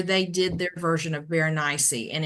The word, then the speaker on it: Berenice: They were doing a recitation of it, and they said just rhyme it with something spicy, Berenice, something spicy.